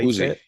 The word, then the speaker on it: Uzi: Is that how Uzi? Yeah. Uh that's how you say it. It's Yeah. It's just like the uh semi- machine gun.